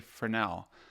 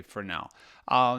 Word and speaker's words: Fresnel: And also from Intrepid, there's now the option to purchase a 4x5 Fresnel, or I think you say Fresnel. That's me reading Fresnel, but it's spelled Fresnel, but you say Fresnel, which basically you set